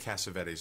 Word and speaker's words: Cassavetes: We pronounce it Cassavetes in the States, but the way we pronounce it is probably the right way. I think they got mucked up. It just got lost in translation.